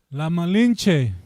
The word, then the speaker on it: La Malinche: La Malinche.